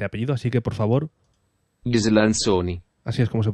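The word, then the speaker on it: Ghislanzoni: Gislanzoni. Así es como se pronuncia.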